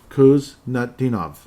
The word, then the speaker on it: Kuznetsov: So 37 ultimately, Marat Kuznetsov. That's how it is pronounced. Pardon me for slipping around. When you look at the name, it's kind of intimidating, but if you sound it out, it makes sense.